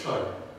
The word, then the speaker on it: Chua: And actually, one of my ancestors, Chai Lun, my Chinese pronunciation of Chua is Chai.